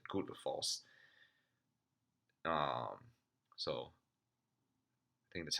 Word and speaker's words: Gullfoss: It's spelled Gullfoss, but the double L sound in Icelandic is actually a TL sound, but not the way we would say in the US. So it's not Goldfoss. It's more like how the Germans would say it.